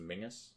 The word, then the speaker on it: Menes: type of logic that applies to menes being pronounced Mingus but we we'll get